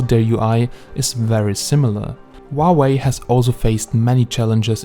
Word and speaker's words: Huawei: Huawei has also faced many challenges in consumer branding. Now Huawei, pronounced Huawei, does not translate easily.